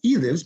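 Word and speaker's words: Elives: runs the magic shop his name is spelled e-l-i-v-e-s and it's pronounced he lives because his is the mystery that makes him mystery lives which is lives uh so there's a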